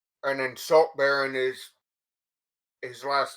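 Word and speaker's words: Saltbarren: r z and then salt baron is his last name is spelt the second songs like b-a-r-r-e-n like the title baron not as in the not as the like not as the baron wastelands he says i have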